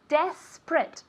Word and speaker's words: desperate: that he's desperate okay desperate two syllables okay desperate desperate okay not this is print okay desperate okay let's